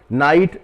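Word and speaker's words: night: non word है ये नाइट ये जो ग यहां पर भी है एन आई जी ह टी स्पेलिंग हुई अर्थ इसका हुआ रात और यहां पर ग का उच्चारण नहीं होता इसी प्रकार से यह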